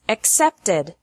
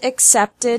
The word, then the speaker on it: accepted: The past of accept is accepted. Accept has 2 syllables, and accepted has 3 syllables.